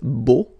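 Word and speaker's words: beaux: Okay, so you put this X at the end, but then you don't pronounce it, so it's beau.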